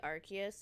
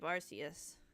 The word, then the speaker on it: Arceus: predated the Legends of Arceus. Arceus. Arceus is the correct pronunciation, I think, but I keep defaulting to Arceus.